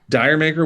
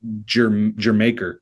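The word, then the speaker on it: D'yer Mak'er: the Rain Dancing Days Dyer maker which actually I found out is actually your maker is how you say it but anyway The Song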